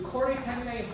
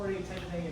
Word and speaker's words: chordae tendineae: The chordae tendineae hold the valves and prevent them from flapping the other way.